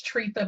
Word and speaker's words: Tretha: Miller, because I know people often mispronounce my name. It's Tretha, but they call me everything under the sun.